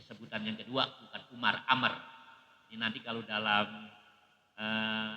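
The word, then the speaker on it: عمرو: Ya, sebutan yang kedua bukan Umar, Amr. Ini nanti kalau dalam ee apa kitab-kitab nahwu tuh Umar ain mim ro itu bacanya Umar. Kalau habis ro ada wau bacanya bukan Umar Amr.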